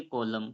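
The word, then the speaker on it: column: एम आ रहा है तो एम के बाद एन आ रहा है तो इस एन क्या हो जाएगा यहां पर साइलेंट रहता है यानी हम इस रूल्स के अनुसार अगर किसी वर्ड में एम आता है एम के बाद एन आता है तो एन साइलेंट रहता है तो इसे क्या पढ़ेंगे इसे पढ़ेंगे सीओ एल यू एम को हम पढ़ेंगे कॉलम क्या पढ़ेंगे कॉलम पढ़ेंगे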